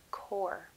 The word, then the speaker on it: corps: group called the canadian corps notice i do not pronounce the p in the word core more than six hundred